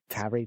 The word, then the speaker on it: Tari: That's Tari, Darry. Tari. Let's just call him Tari. Yeah, it's spelled T-A-R-I.